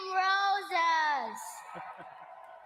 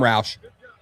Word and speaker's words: Roush: With the 69th pick in the 2026 NFL Draft, the Chicago Bears select Sam Rosas. Sam Roush. He pronounced it wrong.